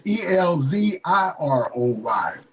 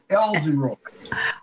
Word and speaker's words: Elziroy: Well, you got to spell it right. It's Elziroy. Elziroy.